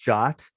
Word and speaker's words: JWT: about jobs they are json web tokens is pronounced shot it's a ietf standard good old 75-19 and